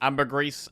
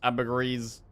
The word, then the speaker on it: ambergris: Ambergris, ambergris. Ambergris. I've been told it's ambergris. But sometimes I forget. Ambergris. Ambergris. Ambergris is pronounced primarily as ambergris. With the stress on the first syllable.